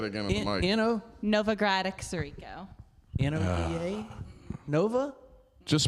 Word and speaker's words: Sirico: Greg, I can say and pronounce that. Sirico.